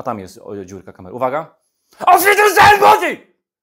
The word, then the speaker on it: Auf Wiedersehen Monty: Auf Wiedersehen, Monty! Tak się mówi po niemiecku, bo to trzeba tak zaakcentować i trzeba tak twardo powiedzieć, więc bohaterem dzisiejszego odcinka jest Auf Wiedersehen, Monty!